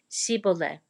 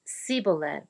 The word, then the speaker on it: Shibboleth: If the man said, "No, I'm not," they would tell him to say Shibboleth. If he was from Ephraim, he would say Siboleth, because people from Ephraim cannot pronounce the word correctly.